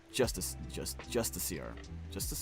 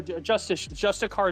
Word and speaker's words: Justiciar: Justiciar. No, Justicar is how you say it. It's just written like Justiciar.